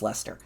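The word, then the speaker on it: Leicester: liser it's spelled leester it's silly English it's pronounced Lester um but let me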